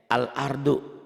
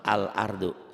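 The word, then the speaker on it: الأرض: Kamu katakan juga alif lam komariah itu alif lam yang dibaca apa adanya. Lihat ya. Al-ardu tulisannya. Tuh dibacanya juga sama. Al-ardu. Sama kan? Sama. Tulisannya begitu, dibacanya juga begitu.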